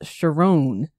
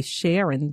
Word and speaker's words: Chiron: give us some examples your name is Chiron which is spelled like most people say Sharon but you pronounce it Chiron how significant is it